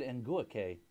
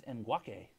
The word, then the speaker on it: Ngakoue: We've been saying it wrong the whole time. What were we saying? We said Ngakoue. It's Ngakoue.